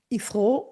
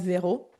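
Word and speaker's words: Xero: Ils appellent ça zéro, je ne sais pas pourquoi, mais pourtant c'est écrit avec X. C'est Xrow, mais on prononce zéro.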